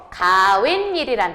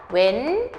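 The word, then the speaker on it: 가욋일: 가웬일이란 단어. 자, 얘가 발음할 때 어떻게 발음하냐면 가웬일 이렇게 발음되죠. 뒷말 모음 앞에서 뭐예요? 니은 두 개 덧났죠?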